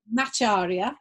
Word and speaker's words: Macharia: a month and her name is did i pronounce that correctly macharia macharia yes i got it um so welcome um